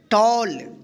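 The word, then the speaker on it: tall: क्या पढ़ेंगे इसको मल टी A double L टॉल डब्लू A double L वल एफ ए डबल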